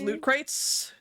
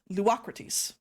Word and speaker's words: Luocrates: We are introduced to a character who, if you look at the way this name is spelled, it looks like it says Loot Crates, but due to this accent over the name, it's actually pronounced Luocrates.